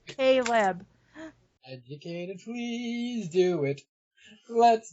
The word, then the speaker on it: Kleb: That's how I pronounce it, even though it's Kleb. Because I looked at that and I'm like, how would I say that? And I'm like, Caleb.